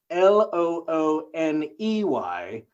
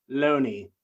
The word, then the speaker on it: Looney: Loney, spelled Looney, but I promise you, they made sure I pronounced it Loney, not Looney.